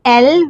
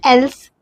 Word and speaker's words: elles: always use il, not el. Il plural, we use il with s. Now, they, feminine, when we are talking about feminine, we say el with s. El. Not els, el.